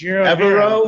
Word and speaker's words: Evero: Evero.